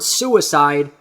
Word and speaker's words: suicide: stress the wrong syllables the word suicide almost has that double emphasis suicide so you can say in the end remember leave a suicide note behind you're not stressing the wrong syllables you're still stressing both of them that that way you're